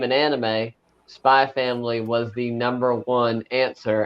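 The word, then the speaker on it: Spy × Family: time perfect um when I first talked about spy family at work I was humbled because I called it spy X family and the person was like is pronounced spy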